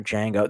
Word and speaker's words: Django: to Pulp Fiction or Django. There you go. And also, you spelled Django wrong. Motherfucker, how do you not know? It's in the film. Can you spell your name? DJANGO. The D is silent.